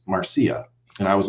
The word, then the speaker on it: Marcia: day i was i posted a video about marcia fudge i was pronouncing it marcia because it's okay a-r-c-i-a okay and and somebody corrected me and they said well actually it's pronounced marcia and i was like well